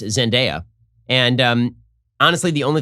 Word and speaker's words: Zendaya: holland and uh i've been informed that it's pronounced zendaya and um honestly the only thing about this